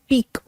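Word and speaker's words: pique: Okay, word थोड़ा सा मुश्किल है, ये फ्रेंच ओरिजिन का वर्ड है और इसकी प्रोनाउंसिएशन है पीक। ओके, ये इसकी प्रोनाउंसिएशन है और इसका मतलब क्या होता है, इसका मतलब होता है रिसेंटमेंट।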